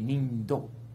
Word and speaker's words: ninpo: Ninpo is the science of ninja art. The correct pronunciation is ninpo, but it should be nindo. Because it's a Chinese translation, mm-hmm.